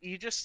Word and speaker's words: Aegis: slash agent ages slash i say aegis because i'm pretty sure you say aegis you because the a is silent i'm pretty sure i could be wrong it is i'm pretty sure it's a greek word right like saying like